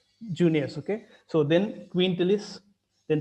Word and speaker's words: Junius: Though it starts with I, they pronounce it as Junius.